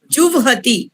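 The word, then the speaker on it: जुह्वति: जुवहति, हमने व को उच्चारण पहले करना है, ह को बाद में करना है, जुवहति।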